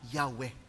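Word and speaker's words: Yahweh: yung translation po sa English na Jehova kalaunan napag-alaman po ng mga ah history at linguistic experts na ang pinaka closest Base po sa kanilang tradisyon kung paanong inilalagay ang mga vowels ay yung pronunciation na yahwe At least meron tayong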